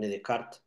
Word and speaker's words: Descartes: para para la humanidad que se llamó Ren decart se escribe Descartes el famoso pienso luego